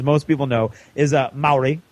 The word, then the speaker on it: Maori: War army as most people know is a Maori Maori I know how to say it now see